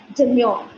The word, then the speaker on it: demure: one first one is demure demu we do not pronounce the r when it is pronounced when it is present just before a vowel the pronunciation is it